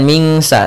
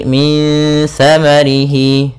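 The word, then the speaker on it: min tsamarihi: sa termasuk huruf ifa, maka cara membacanya kita samarkan langsung ke huruf sa-nya. Min sa, as-sa, langsung min sa, bukan mingsa tapi min samarihi, sambil ditahan gunnahnya 2 harakat.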